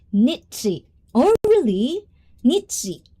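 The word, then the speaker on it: Nietzsche: It's pronounced nitsi. Oh, really? Nitsi, not nitska.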